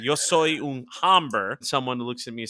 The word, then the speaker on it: hombre: Hombre. Hombre, hombre, which means man in Spanish. The rule is the H is silent and not hombre.